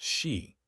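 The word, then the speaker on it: sídhe: These mounds, called Shia, pronounced she, the root of Banshee, became permanent, hidden gateways to their magical eternal kingdoms.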